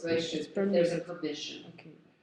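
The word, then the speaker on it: רשות: And how do you pronounce in Hebrew permission again, please? Reshut.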